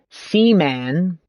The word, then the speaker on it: Seaman: So you could play, and let me say this correctly and pronounce this. So not to say it weird. Seaman.